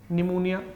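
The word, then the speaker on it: pneumonia: निमोनिया P silent होता है, निमोनिया लिया उन्होंने, और नाम क्या था?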